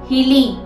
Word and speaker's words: হিলি: প্রোনাউন্সিয়েশনটি কিভাবে হবে? হিলি, হিলি, হিলি, ঠিক এইভাবে উচ্চারণটা খেয়াল রাখবেন, ভুল করবেন না বন্ধুরা।